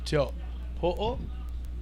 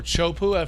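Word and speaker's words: Teahupo'o: For sure, 100% a local from the village of Teopo'o, or Chopu, for everyone in the U.S. calls it.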